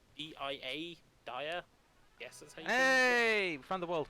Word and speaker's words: Dia: and they're usually called dia Dyer hey from the world map I always pronounce it as dear personally yeah he gets more